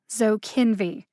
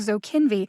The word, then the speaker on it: Zokinvy: pretty straightforward to say the middle syllable kin gets the emphasis so kinvi zo kinvy now how did i